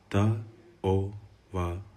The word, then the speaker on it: Ta'ovala: It is pronounced Ta'ovala.